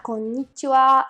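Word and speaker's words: konnichiwa: a explicar rápidamente su origen la primera palabra con nicho a significa hola se pronuncia siendo una pequeña pausa antes de mí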